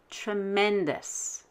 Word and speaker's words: tremendous: the same with tremendous look to the left of ous you have e and d e and d is vowel consonant consonant so we will stress the e and d tremendous but if the word